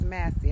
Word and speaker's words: Massey: Her last name is Massey. I keep pronouncing her last name wrong.